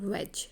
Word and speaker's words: wedge: Last is द वेज, WEDGE, वेज, D silent.